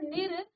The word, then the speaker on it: निर्: जोड़ा तो निर्धारण और आप जानते हैं र को आप ऊपर लगाते हैं ये आधा र का उच्चारण करता है और इसका जो प्रनं